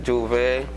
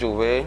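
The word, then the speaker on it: J'ouvert: Well, for me, I can say Juve the whole meaning behind Juve, the word Juve itself, first of all, it is spelled Jouvert, or it can be spelled Jouvay,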